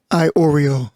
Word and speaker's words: Iorio: Iorio. Iorio? Yeah. Okay. You're an Oreo. Oreo cookie. Like Oreo. Oreo. Yeah. They're like, who's an Oreo? Iorio. Like the Oreo cookie.